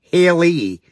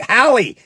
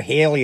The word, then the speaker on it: Halle: It's pronounced Haley, like Haley Berry. Oh, like Halle. Oh, sorry, I say it wrong all the time. Halle Berry. Thank you, Halle. I call her Haley all the time, and it's Halle.